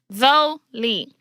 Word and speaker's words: Zolie: hi my name is Zoli pronounced though Lee my middle name is